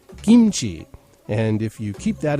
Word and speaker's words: kimchi: us uh who are with the US military pronounce it kimchi but actually if I were a Korean or were wanting to uh pronounce it correctly as a Korean would I should be saying kimchi and if you keep that in mind uh